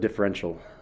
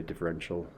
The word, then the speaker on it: differential: um our objective today teflon yeah uh we pronounce it differential um i know it has i a l which kind of sounds weird but you say differential as if there's no i um all right so